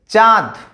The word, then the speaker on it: চাঁদ: চাঁদ, চাঁদ, চাঁদ, দেখো শুধু চা আ উচ্চারণে চন্দ্রবিন্দু আসছে না, সানুনাসিক হচ্ছে না, কিন্তু যখনই আমরা চন্দ্রবিন্দু দিচ্ছি আয়ের ওপরে, তখন উচ্চারণ হয়ে যাচ্ছে চা, মানে আর উপরে চন্দ্রবিন্দু বসে যাচ্ছে, তাই আর উপরে চন্দ্রবিন্দু বসার কারণে এটা হয়ে গেল সানুনাসিক স্বরধ্বনি।